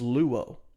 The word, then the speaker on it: luo: word for melt in the greek language is luo we would spell that l-u-o and it means to to be